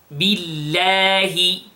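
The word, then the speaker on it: بالله: Then, billahi. Now here I want you to notice the kasra in the ba.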